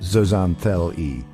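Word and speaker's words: zooxanthellae: These algae are called zoxanthelli pronounced zoanthel.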